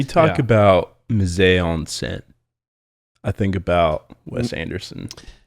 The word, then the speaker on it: mise en scène: in school that I learned about film was mise en scène.